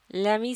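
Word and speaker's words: lamb: Note करने की है ये जो लफ्ज़ है एल ए एम बी इसको इसमें जो लेटर बी है वो साइलेंट है इसे लैम पढ़ा जाता है. बी की जो साउंड है वो इस्तेमाल नहीं होती.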